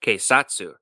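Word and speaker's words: 警察: the Japanese word for police and that is quatu quatu is spelled ke i s a TSU and quatu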